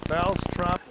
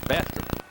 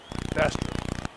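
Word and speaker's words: Bastrop: Reynolds 27 years old from Brop Louisiana. Did I pronounce that properly? Louisiana. Yeah, it's Bastrip. Bastrip.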